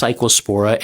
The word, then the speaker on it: Cyclospora: It's pronounced Cyclospora and RFK Jr.'s lying to you about how well he is doing as Health and Human Services Secretary.